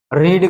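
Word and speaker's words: read: भैया रीड रेड रेड जो इसकी स्पेलिंग होती है वो सेम होती है तो हम लोग फर्स्ट फॉर्म को रीड पढ़ते हैं लेकिन सेकंड और थर्ड फॉर्म को रेड पढ़ते हैं।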